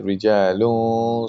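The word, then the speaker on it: رجال: So rijalun sadaqu. You have to pronounce the gunna, and you have to do ikhfa, meaning you don't pronounce the noon like rijalun. You have to say rijalun sadaqu.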